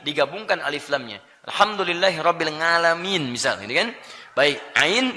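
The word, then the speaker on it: العالمين: Tidak pakai ain bacanya tapi pakai hamzah alamin.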